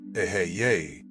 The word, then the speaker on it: Eheieh: Within the hexagram sits the name AHIH, pronounced Eheieh, the very first name of God as it appears in Kether, the crown of the Tree of Life.